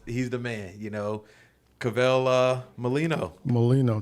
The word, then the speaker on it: Cavelle Mollineaux: the man you know kavel uh molino molino thank you got it right i appreciate you saying my name to right you know how long it's taken me to uh to to say your name for for years it was just practicing that styling